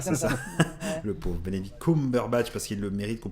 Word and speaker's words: Benedict Cumberbatch: toujours, en tout cas c'est ce format-là, avec Bechnebi Cumberbatch, c'est ça, hein Ouais, le concombre sous bâche. Moi, je Voilà, l'appelle comme c'est ça. ça. Le pauvre Benedict Cumberbatch, parce qu'il le mérite, qu'on prononce bien son